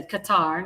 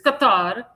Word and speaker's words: Qatar: That's how you say Qatar, not Qatar. Qatar. That's how that's how the Arabs pronounce it. It's Qatar.